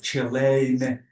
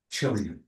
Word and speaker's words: Chile: This is why some people say Chile and other people say Chile.